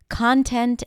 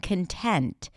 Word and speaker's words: content: What makes the difference between content and content, present and present.